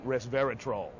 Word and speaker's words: resveratrol: Okay, now you can't open a magazine or newspaper now without seeing resveratrol. Right. That's how you got to pronounce it right, like a troll under the bridge.